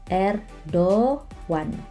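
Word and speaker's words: Erdoğan: Ini cara bacanya bukan Erdogan, Teman-teman. Tapi Erdoan. Erdogan. Jadi Yung Syak-nya tidak dibaca Erdogan.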